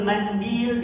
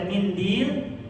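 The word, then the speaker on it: منديل: Hunaka man yaqul mindil bi kasril mim wa hunaka man yaqul mandil bi fathil mim. Nafsul makna ya. Jadi bisa kita baca mindil dengan mengkasrohkan mim, boleh juga kita baca mandil dengan memfathahkan mim.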